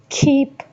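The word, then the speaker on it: keep: खीप खीप कीप नहीं कहेंगे। खीप कहेंगे।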